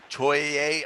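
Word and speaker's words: Tourigny: But it's being said that they're going to announce their new head coach, which should be Andre Toye. I think that's how you say his name.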